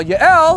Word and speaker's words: Yael: And he runs to the tent of a woman named Yael, or Jael, sometimes it's pronounced in English, right?